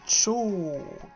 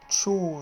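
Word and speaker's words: 超: Et ce kanji là, c'est Cho. Cho, ça se prononce, ça veut dire super.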